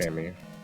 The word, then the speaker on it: EMMI: It is an acronym, but it's also pronounced. Amy.